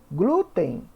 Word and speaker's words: glúten: mesmo acontece com o glúten glúten a sílaba tônica é o Blue então é uma paroxítona terminada em M leva acento agora nuvem nuvem a